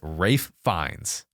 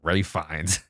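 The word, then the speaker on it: Ralph Fiennes: Rafe fines interesting yes all right I have up that name many times it is Rafe fines I know I don't know why you spell it like that that's literally Ralph I hate the English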